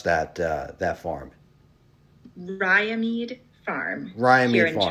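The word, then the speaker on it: Riamede: And how do you actually pronounce that farm? Ryamede Farm Ryamede here in Farms.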